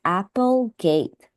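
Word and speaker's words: Applegate: name of the author since uh here it's spelled a p e so I think this is pronounced as Apple gate so just be careful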